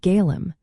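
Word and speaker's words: Gaillimh: In the Irish language, Galway is called Gaelim. This is pronounced approximately as Gal Roman 4, with a soft V sound at the end.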